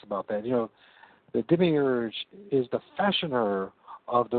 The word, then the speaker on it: Demiurge: How did you pronounce it? Demiurge.